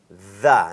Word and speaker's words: the: th ที่ คน ไทย จะ ออก เสียง เป็น เดอะ นะ ครับ ต้อง เป็น The นะ ครับ ตาม หลัก ของ th ก็ คือ